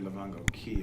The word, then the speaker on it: Lavango Cay: Actually, Lavango Key is how you say that.